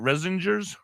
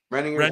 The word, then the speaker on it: Renninger's: If you haven't gotten a chance to go to Kutztown to the Zik family, how do you say it? Resingers? Renninger's Market. Yep.